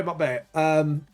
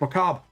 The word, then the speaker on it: macabre: By the way, Buckbear, macabre. How do you say Buckbear? It's macabre. Macabre.